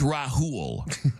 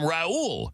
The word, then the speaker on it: Rahul: The man's name is Rahul. Okay. His name is Rahul. That's how it's spelled. That's how it's said. Everybody on that call who works with him every day kept calling him Raul. His name is not Raul. It's Rahul.